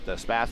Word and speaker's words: Spath: think in another series I was calling him by Spath, or Space, but Spath is actually how he says he wants his last name said.